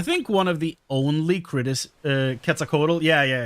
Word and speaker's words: Quetzalcoatl: But I feel like Valigarmonda is already, like, based on Quetzalcoatl. Quetzalcoatl, sorry. I guess that is how you actually pronounce it, but you know.